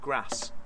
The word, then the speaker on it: grass: Well, grass rhymes with ass.